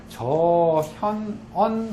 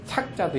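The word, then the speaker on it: 著: 야, 즉 일월 저현언 하나니라. 밤이 되면 달과 별이, 이건 발음이 저자도 있고 착자도 있죠.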